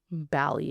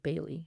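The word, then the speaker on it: Bally: Um, Bali instead of Bailey.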